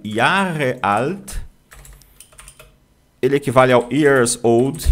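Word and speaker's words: Jahre: O Yarreal, ele equivale ao years old no inglês e se pronuncia y alt, ok? Yarre. Yarre ou com r na ponta da língua. Yar, tá menos comum, mas um alemão vai te entender, porque esse R no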